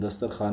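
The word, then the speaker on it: دسترخوان: आप लोग लिख लीजिएगा ये जो दस्तरखान में वाव आया है इस वाव को हम लोग कहते हैं वाव मादुला यानी कि इसे हम लोग वाओ साइलेंट के नाम से भी जो है वो जानते हैं।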